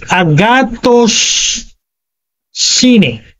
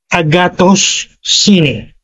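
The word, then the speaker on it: ἀγαθωσύνη: I want to pronounce it uh very clearly that is Agatos Cine para madali pong mabigkas. Para akong nagtuturo ng Greek ngayon ah. Agatus and then sine. So pagsamahin niyo agatos sine.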